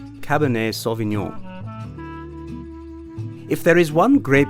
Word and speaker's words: Cabernet Sauvignon: Cab in a cab nei saw the neon Cabernet Sauvignon you try read this without steak tonight I